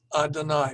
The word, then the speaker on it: Adonai: we don't know but in jewish tradition we do not pronounce the name of god as it is written uh instead we substitute the title adonai which means my lord so when we see yudhi vahveh written in the text today the traditional jewish way of dealing with it is to pronounce it as adonai my lord and without going into